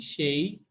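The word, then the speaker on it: 谁: थाशी शेई, शेई हमने पढ़ा था किसको कहते हैं, इसकी दो प्रोनाउंसिएशन पढ़ी थी कल। एक शेई है और एक शुई है, और मैंने बताया था दोनों में कोई उसके मतलब में फर्क नहीं आता, आप दोनों में से जो मर्जी इस्तेमाल कर लें।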